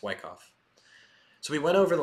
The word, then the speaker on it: Wyckoff: for part one of Wyckoff trading theory. I like saying it Wyckoff so much better, but I know that I have to say Wyckoff because Wyckoff is the correct way to say it.